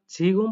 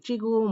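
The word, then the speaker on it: 지금: এখানে উদাহরণ বলছে চিগুম, চিগুম এটা ঝিগুম পড়তে বলিনি চ দিয়ে চিগুম ওয়াইও।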